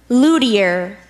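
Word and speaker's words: luthier: deer can have the word one more time Lou dear Lou dear Lou dear Lou dear can I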